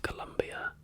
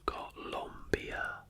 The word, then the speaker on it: Colombia: is the Republic of Colombia and is derived from the last name of explorer Christopher Columbus. The country's name is pronounced Colombia, not Colombia, which is a common mistake by non-Spanish speaking visitors.